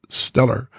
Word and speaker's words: STLR: STLR, pronounced stellar, Conversations.